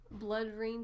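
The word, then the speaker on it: BloodRayne: The 13 that are available are Black, Blood Rain 2, is that how you say it?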